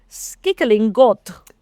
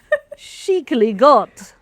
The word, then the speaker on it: skikkelig godt: Skickling. No, there's a bit underneath that says how to pronounce it. So, oh yeah, I should have read that and then try again. Shicily got.